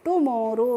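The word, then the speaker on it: tomorrow: Day after टुमारो।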